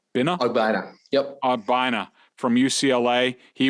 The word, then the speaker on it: Ogbonnia: How do you pronounce his name? Ogbonnia.